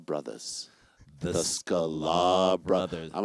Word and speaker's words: Sklar: And I was like, Jason Sklar.